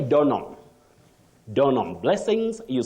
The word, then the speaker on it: Donholm: in Nairobi you say donam donam blessings you say donam not Don home that H is not articulated or pronounced then you say crayon